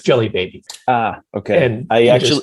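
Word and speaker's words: Djelibeybi: of the city nations is spelled in a really weird way with a d j e l y e b f but it's jelly baby ah okay and i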